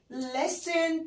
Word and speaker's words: listen: listen بس تي مش بننطقها فبنقول listen مش بنقول listen.